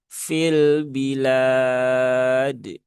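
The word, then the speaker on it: في البلاد: Kemudian fi fil ya fian, fa itu tipis ya karena dia memang huruf tipis. Jangan sampai keluar bunyi huruf P ya. Pi ya. Tetapi dia fa fi fil bilad.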